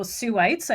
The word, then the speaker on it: Sooites: And it sounds like there are a lot of opportunities for you and your fellow Sooites. I learned that today is how you say people from the Soo.